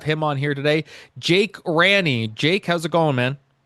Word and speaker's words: Ranney: Did I pronounce your name right, by the way, Ranny? Yes. You're actually one of the only people that have ever pronounced it right. So, hell yeah. That's good. What's What's the worst uh pronunciation of your name uh that you've gotten? Well, honestly, I've heard Rainey. Um Renee.